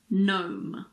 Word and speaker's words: gnome: Well, we don't pronounce the G if it's followed by an N at the beginning of a word.